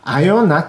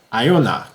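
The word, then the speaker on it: Ajona: 아요나 짠크렘을 같이 리뷰해 보도록 하겠습니다. 우리나라에서는 아조나라는 이름으로도 불리우는 것 같은데요. 원래 이름은 독일식 이름으로는 아요나라고 발음이 된다고 합니다.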